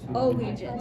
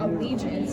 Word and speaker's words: allegiance: So like allegiance, that doesn't sound right, does it? And like allegiance, that makes sense. So it's the second one.